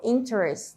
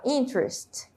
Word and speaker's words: interest: aqui de uma palavra Eu não falo interest né eu falo interest interest como se essa letra e não existisse também então e It's of